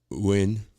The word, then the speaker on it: yuan: The yuan, that's how you pronounce it, from the Chinese currency, yuan.